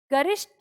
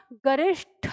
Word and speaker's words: गरिष्ठ: ट और ठ महाप्राण है, ठीक है? ट अल्पप्राण होता है और ये ठ। तो हम बोलने के आधार पर इसका यानी उच्चारण करने के आधार पर लेखन सीखेंगे। गरिष्ठ नहीं होता, गरिष्ठ होता है, ठीक है? तो इसे हम गरिष्ठ पढ़ेंगे।